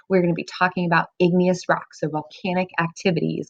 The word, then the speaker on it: igneous: Canyon's out in Arizona another word or another rock we talked about was igneous rock remember it sounds like the word ignite or like a fire and this can help us remember that igneous rocks formed from magma